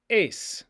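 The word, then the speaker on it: εἰς: The preposition that means into or to is es, with that final sigma. Es, es. Or is a, just the letter eta, pronounced a.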